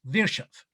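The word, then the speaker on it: Virchow: one is a german root of love vicar virshov and by the way is pronounced virshav and vishov is a genius in medicine because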